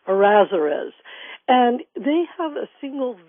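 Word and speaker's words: Errázuriz: hard name to say so I'm going to spell it for people it's e r r a z u r i z azerus and they have a single Vineyard um uh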